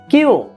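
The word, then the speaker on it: きゅう: এই কিউটার রোমাজ উচ্চারণ কেমন হবে, ডবল ইউ। বাংলায় কিউ আর একটা উ, ছোটটা টান হবে আর কি, কিউ।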